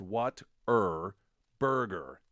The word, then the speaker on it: Whataburger: that Whataburger is pronounced What er Burger w-a-t-e-r b-r-r-g-r-r-r a pronunciation embraced by many Texans but not directly conveyed by the spelling of the word somebody